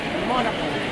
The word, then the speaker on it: Monaco: ha meko ang tawag monaco ang proper pronunciation sa mga Europeans is monaco ah pero sa pilipinas